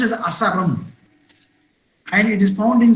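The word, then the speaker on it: Asarum: It is pronounced as Asaram, and it is found in South India, especially in the Western Ghats of Tamil Nadu and Kerala.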